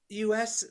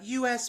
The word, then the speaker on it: Us: captured in all the magazines yes this uh us magazine is very informative you're so cute it's us magazine it's us magazine really yeah that's how you pronounce it